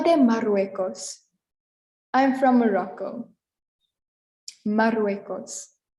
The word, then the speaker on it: Marruecos: Morocco in Spanish is Marruecos. Marruecos. Soy de Marruecos. I'm from Morocco. Marruecos. The double R is a little longer than our single R we had in Turquía and South Africa and Democrática.